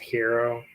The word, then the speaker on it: gyro: Indian food or uh a gyro which is really I guess pronounced hero it's like h yeah